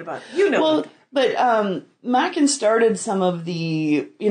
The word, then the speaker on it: Machen: there's Machen, oh, I can never pronounce his name. M-A-C-H-E-N. Okay. But it's Welsh, so I'm pretty sure it's Machen.